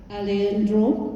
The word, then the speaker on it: Alejandro: And the next speaker will be His Excellency Alejandro, is that how I pronounce it?